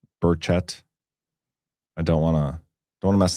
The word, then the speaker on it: Burchett: John, say his last name like a Southerner, which is correctly.